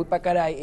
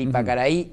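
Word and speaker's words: Ypacaraí: noticia donde el lago Ipacaray en Paraguay le van a vertir cloro de la pestilencia que está teniendo este lago. ¿El Ipacaraí? El Ipacaraí. Disculpa, lo pronuncié mal, el Ipacaraí, el lago Titicaca en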